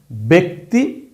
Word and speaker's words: ব্যক্তি: তো এইরকম যদি হয় তখন জফলাটার উচ্চারণ হবে এ যেমন এই শব্দটা ব্যক্তি ব্যক্তি ব্যাক ভ্যাক ভ্যাতি তার মানে ব এর সাথে এই জফলার জন্য উচ্চারণটা আসবে এারের মত জ এর সাথে এই জফলা আছে এবং তারপরে রস্বীকার থাকার ধরুন এখানে জফলাটার উচ্চারণ হবে এর মত এরকম না কিন্তু এইবার উচ্চারণ সরাসরি এ অর্থাৎ বাংলা কার চিহ্নে যেটাকে আমরা ধরি এ কার এই শব্দটার উচ্চারণ হবে ব্যক্তি এই শব্দটার উচ্চারণ হবে ব্যতীত